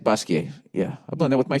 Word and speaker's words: Basquiat: here all right uh basquiat slash basquiat is that i said basquiat yeah i've blended with my french studies you don't pronounce the t unless there's an e after it art world um i'm